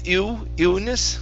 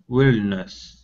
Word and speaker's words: illness: Okay, make sure to pronounce that L there at the very beginning, the two L's. So this is illness. Willness. Okay, so there isn't a W there, so you're trying to say willness.